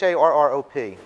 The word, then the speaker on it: Harrop: This is from Froma Harpip. I don't know how to pronounce it. It's Harrop.